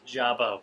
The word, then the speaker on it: Jabba: It's Jabba with a B. Jabba the Hutt. Wasn't even saying it right.